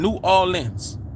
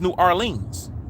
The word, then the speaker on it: New Orleans: somebody i am from new orleans i'm from new orleans right now if you're not from new orleans you're going to say it's new arlene's right in different places in